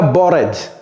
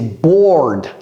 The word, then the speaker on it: bored: Ça, c'est pas bored. C'est pas bored, c'est bored. Bored.